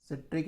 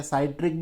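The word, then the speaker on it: citric: संतरा में कौन सा होता है, सिट्रिक एसिड होता है, सिट्रिक या साइट्रिक भी बोल देते हैं, बोलने के ऊपर है वो, सिट्रिक या साइट्रिक, स्पेलिंग C से स्टार्ट होती है ना।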